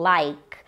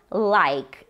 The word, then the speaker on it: like: muito comum em inglês e é o verbo like like isso mesmo cuidado para não falar like quando